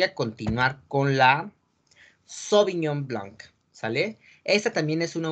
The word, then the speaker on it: Blanc: Blanc, así como si fuera con una O, Blanc.